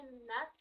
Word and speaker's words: not: Pero cuando es dentro de una palabra, se escucha como si fuera una O más cercana a una A, not, not, ¿ok?